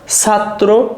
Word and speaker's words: ছাত্র: প্রথমে ত, তারপর তয়রা ফলা ওকার। দেখো ছাত্র, তাহলে ছয়াকার ত, সাত, দেখো একসাথে উচ্চারণ হচ্ছে সেজন্য হসন্ত, ছাত্র। পাত্র, তাহলে দেখো তয়রা ফলা